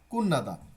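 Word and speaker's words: 끝나다: খিয়রন শিগি কুন্নাগো, কুতনাদা বানানটা হচ্ছে কুতনাদা, লেখা মানে উচ্চারণের সময় কুন্নাদা।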